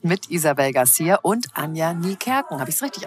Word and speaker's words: Niekerken: Von Nieken bis Nickerchen war schon alles dabei.